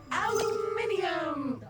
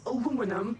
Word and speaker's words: aluminium: And if only when he became the prime minister aluminium or aluminum as Americans pronounce it incorrectly but that doesn't make